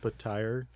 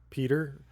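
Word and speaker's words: Petyr: It's actually pronounced Patire. Yeah. Oh, I've been pronouncing it Peter this whole time.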